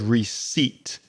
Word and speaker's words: receipt: For example, if you look at the word receipt, it has a very strange spelling. R E C E I P T. First of all, we've got that silent P in there.